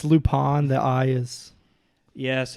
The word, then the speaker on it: Lupin: So it's Lupin. The I is. Yes, it's Lupan, but A-N. I-N. Yes, but the way that you pronounce it, Oh, A-N. it's actually a French word, like a Mhm. French name, because his character is